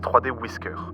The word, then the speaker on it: 3dwi.scr: Le titre complet est 3D Wer Island, mais la plupart d'entre nous préfèrent utiliser son nom de fichier qui se prononce 3D Whisker.